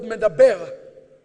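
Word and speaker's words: מְדַבֵּר: But it's also pronounced, if you take the punctuation of the word, ఆ పదము యొక్క ఆ ఉచ్చారణ మనం సరిగ్గా చూస్తే you get the word medaber.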